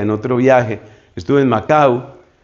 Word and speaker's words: Macau: Estuve en Macau o Macao pronuncian otros, que fue durante un tiempo un territorio